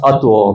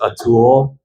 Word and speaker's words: Atul: But no, my name is pronounced Atul, but everybody here says Atul, you know, so I've heard it all my whole life.